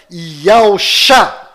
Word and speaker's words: Yahushua: Porém, as sílabas estão invertidas, ou seja, para descobrir a verdadeira pronúncia do nome do Messias, basta apenas colocar as sílabas do nome do profeta Isaías na mesma ordem do nome do Messias. Repare, no nome de Isaías existem 2 letras Yud, então eu vou juntá-las. Agora eu vou inverter as sílabas do nome de Isaías para ficar na mesma ordem do nome do Messias. E ficou Yahushua.